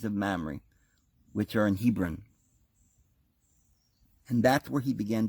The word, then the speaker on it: Hebron: Mamre which are in Hebron and that's where he began to build an altar we talked about how Hebron is originally was curious Arba arba see the H is silent he brah are by the same